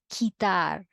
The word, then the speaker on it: quitar: You don't pronounce them as like that, but rather you pronounce them as, again, please repeat after me, quitar, querido, seguimos, juguete.